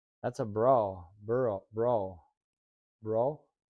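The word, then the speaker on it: Brough: that's not That's a bro. Bro, bro, bro. I don't know how else you would uh pronounce that. B R O U G H.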